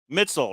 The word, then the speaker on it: Mitzel: Mitzel rhymes with schnitzel.